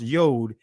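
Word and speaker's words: יוד: In Hebrew, the 10th letter, the Yod, and the Israeli is pronounced Yod.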